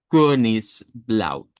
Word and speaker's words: Königsblau: Es la e del español pero con redondez. Ese es el sonido. Königsblau.